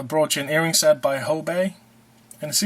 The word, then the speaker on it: Hobé: Here's a brooch and earring set by Hobé, And see, it's got a little willy at the end of the E there. That's what makes it Hobé, not Hobie.